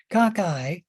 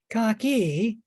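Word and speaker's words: cocci: it kakai and there you can pronounce pronounce cockeye four different ways let's see if I can remember them cockeye cocky coxy and coxai okay all of those pronunciations are correct uh I just go kakai uh we also have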